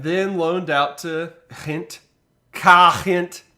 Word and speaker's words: Gent: Gent. That's how you pronounce that, I believe.